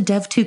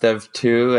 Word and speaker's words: DEV: Can you tell me a little bit about the Dev2 community? Well, the first thing is that it's pronounced Dev2 and not Dev2 or Dev.2.